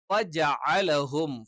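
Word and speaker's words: فَجَعَلَهُمْ: ഇവിടെ ജഅല, ഫജഅലഹും, ഫജഅലഹും ജെ ആയി പോകാൻ പാടില്ല. ജെ എന്നുള്ള ഉച്ചാരണം തെറ്റാണ്.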